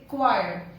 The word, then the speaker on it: acquire: The pronunciation of C, we don't have to make the pronunciation of C. We have to say acquire.